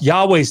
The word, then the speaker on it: Yahweh: Yahweh's difficult because we don't know exactly the vowels that should go with it. Again, I think most scholars would say, most Hebrew Bible scholars would say back, you know, in, the Iron Age that this was pronounced Yahweh.